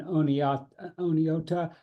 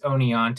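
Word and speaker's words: Oneonta: at uh State University of New York in onot onota tell me if I'm pronouncing that wrong writes on ecosocialist thegrowth and worked as an organizer for Ralph nater okay Peter yeah thank you um it's it's Onan but you know it's okay uh yeah my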